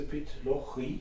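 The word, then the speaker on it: Pitlochry: Und von da aus weiter ins pittoreske Pit Loch Rhee. Habe ich das richtig ausgesprochen? Korrekt. Du hast mir ein schönes Bild von mir, das sieht ja wirklich idyllisch aus.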